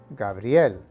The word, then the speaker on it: Gabriel: are pronounced miguel and gabriel now make sure to combine the two sounds of brie and l into one sound with the emphasis on the l gabriel got it let's